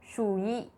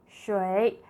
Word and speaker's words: shui: If we follow the spelling exactly, it is going to sound like shuyi, shuyi. But in our daily conversation, it is shui, shui.